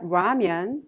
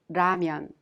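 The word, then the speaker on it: 라면: strong h sound lastly there isn't an exact match to the lear sound in english but you can consider it a sound in between the l sound and the r sound so when you pronounce damian it's not ramyan or lamyan it's ramyan well at this time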